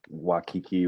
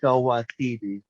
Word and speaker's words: Waititi: The director, Wakiki, or whatever his name is. Taika Waititi.